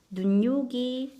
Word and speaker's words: 눈요기: 얼마 전에 했죠 음하고 눈요기 역시나 눈 더하기 여기인데 여기에 니은이 첨가가 되었죠 눈요기 자 종로 종로 발음